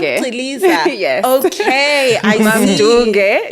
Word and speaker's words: Chiliza: Oh, is it pronounced Chiliza?